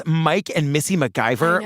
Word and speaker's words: MacIvor: names Mike and Missy mcgyver like what a great names yeah it's not spelled like MacGyver the guy but it's pronounced that way we open in the